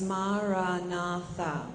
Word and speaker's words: Maranatha: And the mantra that we use is Maranatha, and it's an Aramaic word, which was the language of Jesus. And it simply means, "Come, Lord." So we also say it in 4 syllables, Maranatha, and it in time